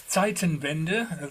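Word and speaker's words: Zeitenwende: uh it's uh um it's Titan vender that's how you pronounce the uh this this the German word um uh and um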